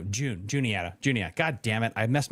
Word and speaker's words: Juniata: You have the Julietta. You can go up into New York if you want to. I said that right. Julietta? No, Juniata.